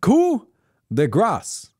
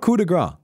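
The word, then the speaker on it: coup de grâce: This ability is pronounced coup de grace. It's not coup de grace. I have made that same mistake for many years. It's actually a really common error that people make. That they pronounce this coup de grace. And it's because people think it just sounds more French that way.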